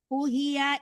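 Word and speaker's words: أُوحِيَ: Walaqad uhiya ilaika wa ilal Oh, Bu. ladzi. U-nya panjang ya, Bu.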